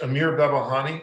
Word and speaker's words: Amir Babahani: with your question sure my name is uh is amir babahani i just go by amir but it's amir so i mean